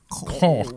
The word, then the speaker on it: caulk: Caulk. No, I think the L is silent in that one.